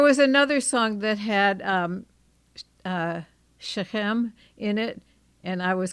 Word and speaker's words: Shechem: on the last syllable. Yeah. Shechem.